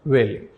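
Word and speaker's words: valet: servant or personal attendant T is silent pronounced value so followed by Weller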